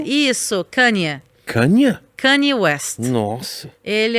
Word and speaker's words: Kanye: Como é que se pronuncia o nome dele? Você vai perguntar pra mim? Tá, ok. Kanye, isso, Kanye.